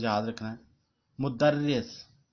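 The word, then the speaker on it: مدرّس: تلفظ یاد رکھنا ہے۔ مدرس یہ شد بھی ہے رے کے اوپر اور زیر بھی ہے، اور مدرسن تو ہم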